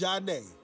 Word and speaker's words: Zhané: In September of 1994, Zhané released their debut album, pronounced Zhané, driven by hits like Sending My Love and Groove Thing.